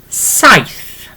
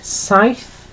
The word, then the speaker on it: saith: Okay, so 7 yw saith. Okay, saith for the number 7. Okay, and I'll write this down for you. Literally, and I hope that helps underneath. So it's literally saith for the number 7, and then literally pronounced